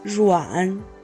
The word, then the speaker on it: Ruan: Fun fact, I found that the name Ruan actually also exists in South Africa and Brazil, but the Chinese pronunciation of it is Ruan.